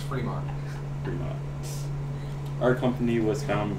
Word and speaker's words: Fremont: There's not two E's, but I think it's pronounced Fremont.